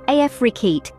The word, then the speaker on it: Afrekete: Remember, Afrekete is pronounced Afrekete.